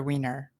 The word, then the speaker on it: Wiener: is it Wiener or Wiener? Sorry, Sorry. Yeah, I'm not sure how he pronounced it. I always pronounce it as Wiener. That's closer to the German pronunciation, but yeah, I don't know how he pronounced it.